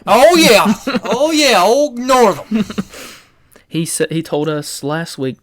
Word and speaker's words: Northam: And the governor, Northam, is that how you say his name, Northam? Oh, yeah. Oh, yeah, old Northam.